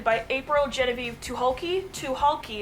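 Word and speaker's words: Tucholke: April Genevieve to hulky to hulky is how you pronounce it I know a lot of people have a hard time pronouncing its to hulky to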